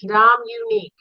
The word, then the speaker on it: Dominique: Dominique. How do you spell that? Can you put that in chat? I already did. D-O-M, unique. Dominique. Well, I ain't helping nobody. Don? You say Dominic, I say Dominique.